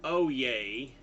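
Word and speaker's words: Oyez: here these are from oay I know it says o yes but it's pronounced oay like when you think about when they get a court to start oh yeah oh yeah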